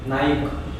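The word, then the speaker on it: Nike: जैसे कई लोग इसको नाइक बोलते हैं, नॉट इसको, जिसका जो मेन फ्रेज होता है उसको नाइक ही बोलते हैं. एंड I don't know where, but normally it's pronounced as नाइकी. थोड़ा वो ये लग रहा है क्योंकि सारे लोग यहाँ नाइक बोलते हैं, पर इसको प्रोनाउंसिएशन नाइकी होता है.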